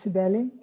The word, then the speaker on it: Sibele: Yeah, Sibeli. I also live in Brazil. Actually, if it's pronounced as it should be in French, you were right. It was Sibeli. But since I live in Brazil, it's Sibeli.